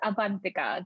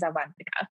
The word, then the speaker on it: Avanthika: It's Avanthika. The second part of the name, you got it right. It's just the first name is Avanthika.